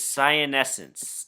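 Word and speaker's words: cyanescens: to investigate this variety you pronounce this sian essence they're often called science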